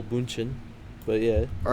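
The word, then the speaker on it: Bündchen: the names yeah giselle i'm bunching i guess with the um it'd be gisele bunchen but yeah all right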